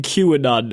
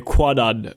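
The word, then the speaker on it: Kwannon: a very good job not saying Qanon every time you say Quanon just to let you know about it's actually well Conor I don't deserve any praise it's spelled K W A N O N Of course it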